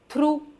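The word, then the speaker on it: thorough: थ्रू और इसका क्या करें?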